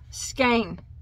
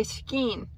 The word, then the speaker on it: skein: it's called skin tones now i know a lot of people say skane and that might be the correct way to say it which it probably is but where i live uh we do not say skein we say skeen it's dialect it depends on where you're from i actually did a